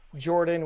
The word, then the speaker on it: Jorphdan: Hey everybody, it's me, your buddy, your pal, your old friend, Jordan with a silent PH in the middle.